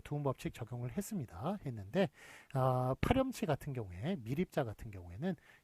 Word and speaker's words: 파렴치: 파렴치, 파 플러스 염치인데 이것도 파렴치라고 읽으니까 파렴치라고 씁니다. 몰염치는 몰 플러스 염치, 몰염치라고 그렇게 사람들이 읽습니다만 파렴치 같은 경우는 파염치라고 읽지 않고 파렴치라고 그렇게 저 앞에 있는 것을